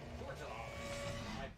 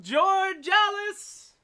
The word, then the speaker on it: Georgalis: Georgia. I butchered it. Georgalis! Come on down.